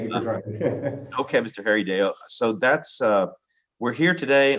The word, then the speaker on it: Harrideo: Harrideo? Yes, sir. It's a Harrideo. Harrideo. Okay. I'll probably keep butchering that. I apologize if I do from now on. It's fine. Thank you for trying. Okay, Mr. Harrideo.